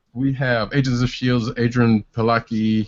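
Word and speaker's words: Adrianne Palicki: Anyway, next up we have Agents of S.H.I.E.L.D.'s Adrian Palicki. I guess that's how you pronounce the name.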